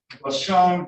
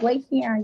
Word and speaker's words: Lacian: Give me the correct pronunciation. It's Lacian. Lacian. Lacian. Lacian, right? Yes. And the E on the end of that is silent, right? Yes.